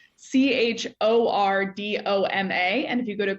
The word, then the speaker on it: Chordoma: I feel the need to spell it first because it doesn't look how it sounds. Chordoma.